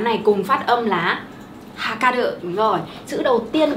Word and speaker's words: はかる: Hôm nay chúng mình cùng học ba chữ Hán này cùng phát âm là hakaru.